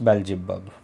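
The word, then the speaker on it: Beelzebub: और वो है फ्रेंड्स बेल्जेबब। BEE स्पेलिंग आई है फ्रेंड्स इसकी, BEEZEL और BUB, बेल्जेबब।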